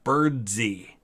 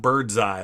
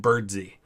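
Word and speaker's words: Birdseye: macpherson by the way i believe he pronounced his middle name birdsee not bird's eye like it looks like i think he pronounced it birdsy james bird d mcpherson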